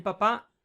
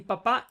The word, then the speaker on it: papá: Ok, palabra aguda con más de una sílaba termina en vocal, por tanto lleva la tilde en la A.